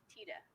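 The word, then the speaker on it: Tiede: that for 15 years, most people have been saying his name wrong. So I heard when you introduced yourself to Lynn, you said Tita. Yes. Tita. Yes. Okay. Bernie Tita.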